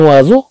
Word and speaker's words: oiseau: لكن وازو او ا اي طبعا اللي تتعطي الصوت او، اذا طبعا هذه تتعني طائر.